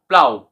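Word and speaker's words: plough: এইচ এল ওয়াই রাফলি তারপরে বাউ বাউ প্লাউ প্লাও এখানে আকার হচ সাউন্ড দিচ্ছে প্লাও তো আমরা পরবর্তী রুলসটি বুঝি মানে ও ইউজি এইচ কখন অ সাউন্ড দেয়?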